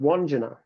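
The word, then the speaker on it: Wandjina: Um, and they have a painting which is thousands of years old of a spirit called Wanja, which is spelled W A N D J I N A.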